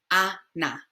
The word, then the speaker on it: Ana: In English, we would say Anna, but since our A's are A in Spanish, A. So Ana, Ana, Ana.